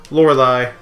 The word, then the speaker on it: Lorelei: Lorelei. That's how you pronounce her name.